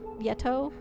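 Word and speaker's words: Yeto: You think it's uh the pronunciations are like how you pronounce Yeti? Yeah. Yeta and Yet Yetto, but you replace the last syllable to be masculine or feminine.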